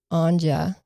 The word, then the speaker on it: Anja: Now, Zepo and Ana, Anja, you have to pronounce the J.